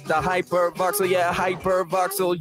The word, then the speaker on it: Hypervoxel: It's the Hypervoxel, yeah, Hypervoxel. You spell it like it sounds, Hypervoxel.